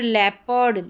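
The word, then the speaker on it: leopard: ए made many ए फिर यहां पर लेपर्ड लेपर्ड ए ई ओ फिर यहां पर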